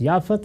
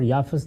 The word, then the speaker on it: یافت: ہے اور ایک یافت۔ یافت اور یافس دونوں تلفظ ہیں، اسی طرح سم اور